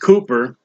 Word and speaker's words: Cowper: once called praise for the fountain open William Cooper pronounced Cooper was one of the few him writers that